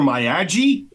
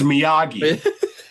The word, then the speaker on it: Miyagi: So Miyagi gets a letter about his dying dad. Certified letter for Mr. Maji. What he says? Yeah. And Dale's like, "Excuse me, it's it's it's Miyagi from Okinawa."